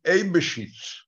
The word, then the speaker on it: אייבשיץ: הגייה היא אייבשיץ.